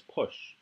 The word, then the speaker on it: poche: And then the last letter in IPA is the SH. So the whole word is push. Which push. Push is how it's pronounced by the audio example.